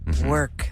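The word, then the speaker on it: werq: the was it working w-e-r-q work it's a new way to spell it so it is work of the world whoops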